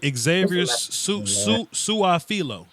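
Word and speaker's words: Su'a-Filo: Xavier Suafilo.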